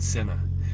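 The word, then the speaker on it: Sena: see you in senna it's like s-e-n-a but it's pronounced like s-e-n-n-a you can look it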